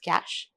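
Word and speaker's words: Kaş: Kas with a hyphen down. It's pronounced Kash.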